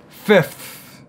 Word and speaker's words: fifth: free and three, and now it's almost like we have free three, one after the other, fifth. So when I'm doing the F, remember, teeth touching the bottom lip, and then immediately after, tongue goes out.